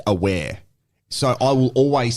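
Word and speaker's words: Awer: So in Adelaide United, for example, we had a player that traditionally here they call him Awa Mabil. But his name is pronounced Aware.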